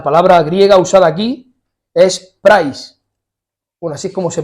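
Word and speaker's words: πραΰς: La palabra griega usada aquí es prais. Bueno, así es como se pronuncia, se escribe, es que se me ha olvidado poner la diapositiva de la palabra, pero se escribe praus, ¿no? Y se pronuncia prais.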